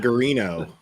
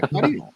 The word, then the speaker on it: Guarino: I've been calling him Guarino, but they've been saying Garino in the courtroom. But when I remember reading a report, trying to sound it out, and going, okay, Guarino, okay, Guarino, yeah, Guarino. That's how you say it.